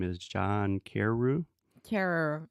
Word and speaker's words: Carreyrou: I believe his name is John Carreyrou. Carrer. It looks like Carrera, but it's Carreyrou.